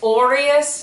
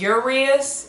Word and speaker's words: Orias: also, it's Orias, not Urias. It's Orias. Please say it correctly.